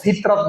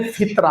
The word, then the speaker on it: ফিতর: আসলে এই উচ্চারণটা ভুল। সঠিক উচ্চারণ কি? সঠিক উচ্চারণ হলো ফিতর। রাসূলুল্লাহ সাল্লাল্লাহু আলাইহি ওয়াসাল্লাম বলেন, ফারাদা রাসূলুল্লাহ সাল্লাল্লাহু আলাইহি ওয়াসাল্লাম যাকাতাল ফিতর। আল্লাহর নবী যাকাতুল ফিতর, ফিতরা না, যাকাতুল ফিতর।